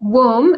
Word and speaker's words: womb: Womb. B is silent. We do not pronounce it.